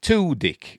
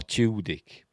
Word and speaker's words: Tudyk: Is it Tudyk or Tudyk? I'm going to say Tudyk.